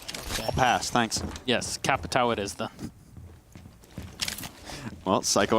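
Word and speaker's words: Capitão: I would say Capitao because pronouncing it the correct way would actually be like a neckbreaker kind of thing. Yeah. Is it tough? Capiton or something like, yeah, imagine saying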